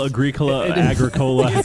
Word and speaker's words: Agricola: How'd you pronounce it? Ethnos? Ethnos. You've Ethnos. It's not A-E. We got a real Agricola situation on our hands.